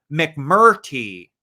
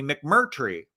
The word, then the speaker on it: McMurtry: lonesome dove by larry mcmurtry i was saying his let name wrong for the longest time i was saying mcmurty but it's actually mcmurtry but i want to